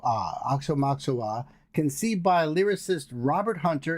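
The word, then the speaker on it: Aoxomoxoa: Meaning it is spelled and pronounced the same way both forwards and backwards just like the the word race car.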